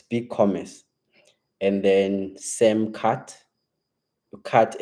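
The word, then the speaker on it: BigCommerce: downloads big commercy uh I feel like I didn't pronounce big Comm right it's big Commerce and then same cut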